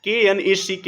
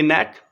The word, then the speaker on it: knack: KNACK, knack. You will have to keep in mind the spelling of this word. Its pronunciation is knack, but it's written KNACK, knack.